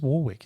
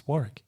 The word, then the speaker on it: Warwick: or Warwick who says Warwick it's Warick the the second W is silent Warick it's a silent